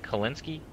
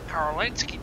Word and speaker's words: Korinsky: I don't know, you have a habit of pronouncing your L's as R's.